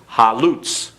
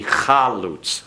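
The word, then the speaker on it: חלוץ: Halutz. And actually that should be chalutz.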